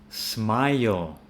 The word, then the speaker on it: smile: So it's going to be smile. So it sounds like aisle. ILE is pronounced like aisle.